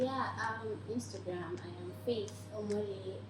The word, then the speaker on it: Omole: So my name now, Omole. Now the ami on that name is going to be the way you pronounce it. Omole, re mi re.